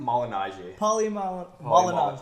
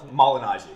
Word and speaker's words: Malignaggi: Malignaggi. Malignaggi. Malignaggi.